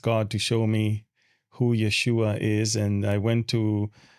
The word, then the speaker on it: Yeshua: And it says Yeshua on it, which was the right spelling and the right pronunciation of Jesus' name in Hebrew.